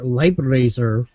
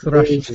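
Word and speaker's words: Leifthrasir: Actually, take it back. Thrasher. They actually provided a pronunciation guide. Thrasher. Oh boy. Live Leif Thrasher. Thrasher. Leib Thrasher. So It's yeah, like- Kind of German, but not quite.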